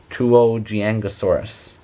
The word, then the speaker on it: Tuojiangosaurus: i actually have to look up how to pronounce it tuogiangosaurus but you guys all wanted me to draw